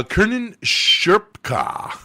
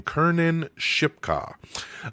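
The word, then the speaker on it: Kiernan Shipka: Uh, Kernan Sherpka, I always forget how to say her name. Kernan Shipka.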